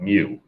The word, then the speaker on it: mu: looks like u but it's the greek letter of mu m-e-w is how it's pronounced so it's the greek letter mu but the formula is